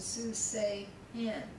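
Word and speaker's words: סוסיהן: the accent goes to the last syllable, like y'all's horses, susechem, susechem, susechem, and susehen. So the accent goes on the end.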